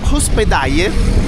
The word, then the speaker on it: hospedaje: Per esempio posada e hospedaje sono due parole chiave importanti per trovare degli hotel economici, che poi in realtà si pronuncia hospedaje, come Tunja, la città in cui siamo.